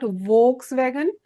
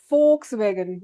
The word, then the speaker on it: Volkswagen: It is not Volkswagen. It is folks wagon. There V is spoken as F.